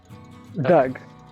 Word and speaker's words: Doug: pronounce it like pronounce it like you're digging a hole dug okay it's short for